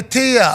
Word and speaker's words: TIAA: is saying oh Tia Tia okay yeah we're pronouncing it wrong it's Tia Tia men's tournament uh is